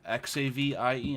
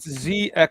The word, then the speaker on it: Xavian: How can you spell that name? Xavien? It's Xavian.